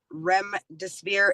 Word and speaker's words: remdesivir: I don't know if I'm saying this right, remdesivir drug.